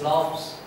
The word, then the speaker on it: laughs: Laughs. Graphs. See, even though the spelling Laughs, Graphs, they are pronounced as fa.